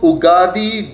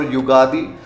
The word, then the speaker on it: Ugadi: So for instance, when it comes to Ugadi or Yugadi, the pronunciation will depend based on where you're coming from.